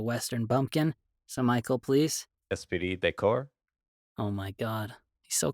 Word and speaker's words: esprit de corps: The next one, I dare not pronounce it because last time Michael pronounced it properly and it made me sound like a Western bumpkin. So Michael, please. Esprit de Corps.